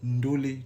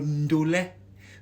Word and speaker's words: ndolet: Déjà chers frères ivoiriens, laissez-moi vous dire que le nom là, le mot ndolet là ne se prononce pas ndolé. Ndolé, c'est le ndolet. Le ndolet.